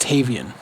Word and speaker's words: Tavian: And Rodriguez actually saying that it's pronounced Tavian.